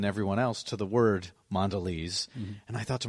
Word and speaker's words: Mondelez: How do you pronounce it? It's Mondelez.